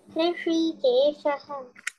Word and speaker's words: ऋषिकेशः: Okay then this Rishi, that श pronunciation get nice like अ whistle, ऋषि के शह, that श इज नॉर्मल, ऋषिकेशः ऋषि के शह। ऋषिकेशः करेक्ट, के शह नॉर्मल, के शह ऋषि।